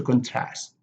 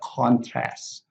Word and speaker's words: contrast: So the stress here are on the second syllable, to conduct, to contrast, to permit, to protest. But the noun, you have the conduct, the contrast, the permit, the protest, the process.